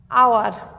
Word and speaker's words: hour: শব্দের প্রথমে যদি এইচ থাকে তাহলে শব্দের প্রথমে যদি এইচ থাকে এবং এইচের উচ্চারণ হয় না, তারপর থেকে উচ্চারণ হয়, সেখানে আর্টিকেল এন বসবে। আবার যথা, এটা একটু বলে দিই, যেমন আওয়ার, HOUR, এখানে এন বসেছে।